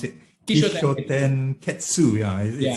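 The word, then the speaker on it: Kishōtenketsu: Tell me more about the how do you pronounce it? Kishoten Ketsu.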